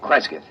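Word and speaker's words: Cresgyth: instead as um well, I'll I'll spell it. C R E S G Y T H Kresith.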